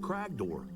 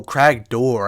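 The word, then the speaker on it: Cragdor: What would regular old sweet ladies be doing wandering the hills of Mount Cragor? Maybe. Oh, crag door. I've been saying it wrong.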